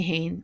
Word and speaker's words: féin: Féin means self. Me féin, myself, tú féin, yourself. This is often pronounced with a H in there, like me hain or tú hain.